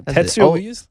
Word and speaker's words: Tetsuo: Tattoo on Youth. And the reason why I told you, the reason why I asked you to say the album, because I have a hard time pronouncing it. No, Tetsuo.